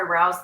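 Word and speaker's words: Rao's: I'll have to try rouse the next time. That is how we pronounce it, right?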